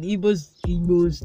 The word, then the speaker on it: Igbo: So that Igbos don't come to say that I did not pronounce it correctly.